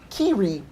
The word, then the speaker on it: Kyrie: Sick Joy, Magical Star Seeker, Kyrie, pronounced Kiri.